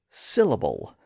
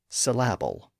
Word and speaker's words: syllable: in the wrong place we say syllable not syab but this up and